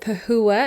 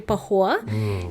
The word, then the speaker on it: Pahoua: yeah my name is I pronounce it pahua I've pronounced it pahua since I was a little girl but in Mong is actually Pahoa and I grew up